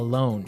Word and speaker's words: loan: A loan. Yes. Not to be confused with a loan like by myself.